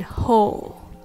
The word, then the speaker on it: hole: the difference between Hall and ho Hall and hole a hall is a large room and a hole is an opening Hall is pronounced with the vow a open your mouth